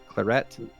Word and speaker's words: claret: Silent. The T is silent. So it's clare.